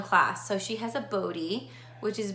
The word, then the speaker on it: Bodhi: So she has a Bodhi, which is B-O-D-H-I, so it's spelled that way, and it's super cute. It's kind of like Brody, which I like, but it's Bodhi.